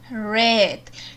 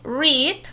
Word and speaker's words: read: en presente se lee reed o se pronuncia read y en pasado simple se escribe igual pero se pronuncia red también tenemos el verbo